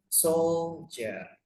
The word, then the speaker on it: soldier: And then soldier. Jadi ini tulisannya pakai D tapi bacanya kayak pakai J gitu ya.